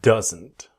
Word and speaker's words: doesn't: This video I want to show you doesn't. Let's go. Same basic idea. Does not doesn't. But what happens? The D is silent. It disappears. So we want that strong N. Doesn't. Doesn't.